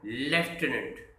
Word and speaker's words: lieutenant: हमने LIEU लिखा और उसमें टेनेंट जोड़ दिया, ये बन गया लेफ्टिनेंट।